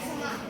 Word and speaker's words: สมัคร: ว่า มา ไป สมัคร ไป สมัคร ไม่ ออก เสียง ไม่ ออก เสียง รอ เรือ ไม่ ออก เสียง